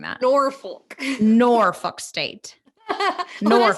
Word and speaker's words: Norfolk State: Norfolk State.